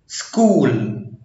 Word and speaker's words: school: بس النطق بيتغير لو جه سي اتش بعد الاس هتتنطق school، يبقى هنا سي اتش اتنطقت كي، school، schooler، scholarship، school، schooler، scholarship.